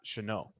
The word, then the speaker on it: Shenault: The surname Shenault was first founded in Normandy. It's Dutch. Sorry, that's why it's Dutch. It's not French. My bad. It's Dutch, but it is pronounced Shenault.